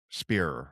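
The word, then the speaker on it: Spierer: I'm always Spearer.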